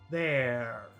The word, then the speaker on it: there: Now, that's important because if you go to the UK or to Australia in certain parts, most parts, they probably will not pronounce the R. So number 2 will just be there.